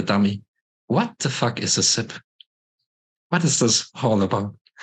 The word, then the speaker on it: CIP: is that pronounced actually is it kit or sip step I think I'm just going off what Charles says but it's sip sip okay we'll call it sip for right here um